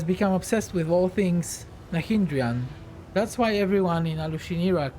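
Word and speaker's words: Nahyndrian: Why do you keep calling them Nandrian? Nahindrian. Oh, I learned how to pronounce it, didn't I?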